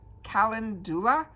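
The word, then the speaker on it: calendula: I'm going to pronounce it as Kalindula.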